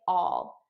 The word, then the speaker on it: I'll: see you all all notice how i'm actually saying all which is the unstressed pronunciation the stress pronunciation would be i'll but naturally i would just say all i'll see you all i'll